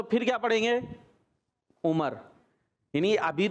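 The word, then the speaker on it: عمر: और अगर वाव नहीं लगा हुआ आखिर में तो फिर क्या पढ़ेंगे? उमर।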